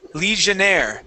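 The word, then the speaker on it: legionnaire: I there okay um this word here is legionaire legionaire okay we're gonna pronounce a j sound Le leire okay so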